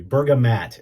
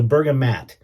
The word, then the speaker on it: bergamot: Bergamo bergam I'm sorry Bergamot is I guess the the correct spelling I've been pronouncing it wrong all these years so bergamat and the bergamat is